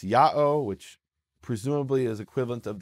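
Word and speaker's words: Ya'o: one instance which is yota Alpha Omega the letters pronounce Yahoo which presumably is equivalent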